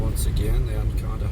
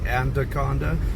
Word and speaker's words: Anaconda: Anaconda if you notice I said Anaconda added a D in there there's no D in there but if you're uh